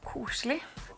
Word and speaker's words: koselig: In my culture, there is something called koselig. Koselig. Am I pronouncing that right?